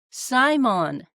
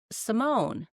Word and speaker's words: Simone: was in Ireland and she kept saying Simon. And so I was like, uh, so I said to her, my name is pronounced Simone. And she said, in Ireland, the pronunciation is different.